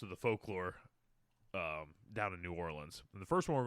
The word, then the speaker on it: New Orleans: New Orleans. New Orleans? Yeah, New Orleans.